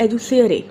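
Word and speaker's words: educere: इनको हम अपनी लैंग्वेज में तो एजुकेयर एंड एजुसेयर कहते हैं, लेकिन लैटिन प्रोनाउंसिएशन में इसको एजुकेरे एंड एजुसेरे कहा जाता है।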